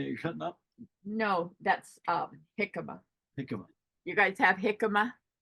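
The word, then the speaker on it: jícama: JICAMA, pronounced jicama.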